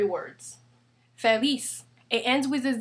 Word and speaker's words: feliz: Therefore, the stress falls on the last syllable. That's why we say feliz, not feliz.